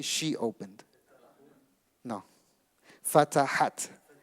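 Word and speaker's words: فتحت: Fatahat. You add the ta sound at the end.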